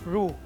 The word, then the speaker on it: roux: cuisine is called drew roux and it is pronounced as roux it is an equal portion of clarified butter